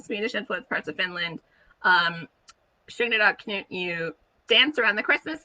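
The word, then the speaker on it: tjugondag Knut: we celebrated something called Tjuegondag Knut, or as we pronounced it, Tjuegondag Knut, which is the 20th day of King or Saint Knut.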